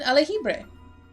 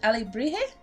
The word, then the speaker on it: alebrije: It's an alejibre. Wait, No, I said that wrong. Is it alebrije? I'm gonna Google this. I feel like I'm saying it wrong. Check it up, Google. Alebrije. Alebrije. Okay. Better.